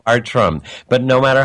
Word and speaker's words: Bartram: to take that but it's pronounced art rum but no matter how